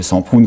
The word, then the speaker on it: Semprún: penseront immédiatement au livre de Semprún, qui est, ou de Semprún quand on le prononce à l'espagnol, et qui a, si vous voulez, une triple dimension.